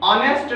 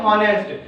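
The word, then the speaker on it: honest: अगला है ऑनेस्ट मैन। तो स्टूडेंट, इसको भी कई बार लोग बोलने में गलती करते हैं, इसको बोलते हैं हॉनेस्ट, जबकि हॉनेस्ट इसका सही प्रोनाउंसिएशन नहीं है, इसका सही प्रोनाउंसिएशन है ऑनेस्ट।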